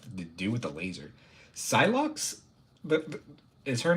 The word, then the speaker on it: Psylocke: Yeah, Psylocke.